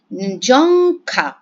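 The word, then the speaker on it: རྫོང་ཁ: National language of Bhutan ঝংখা। দেখলেও এটার উচ্চারণটা হবে জংখা। ঠিক আছে? ডিয়র উচ্চারণটা এখানে আসলে হবে না।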